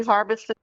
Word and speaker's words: Harbison: I'm Harbison. I'm ahead. Harbison. You said Harveston? Yes, sir. And would you spell that for the record?